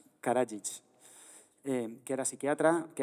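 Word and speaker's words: Karadžić: E si no recuerdo mal, Paco, nos habías hablado de, bueno, de lo que pasó en Yugoslavia, de cómo se pronuncia el nombre de Karadich. Karajic, eh, que era psiquiatra, que era grupo analista,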